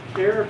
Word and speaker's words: char: about go together with care type and that's something you want to say char you almost can't help yourselves so think about what it means it means the character type hence the abbreviation care now should the english